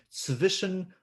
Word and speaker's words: zwischen: Remember, this is the letter Z, and it's pronounced as the Z in pizza, or the last letters, two letters in bats, TS. Was ist der Unterschied zwischen sollen und müssen?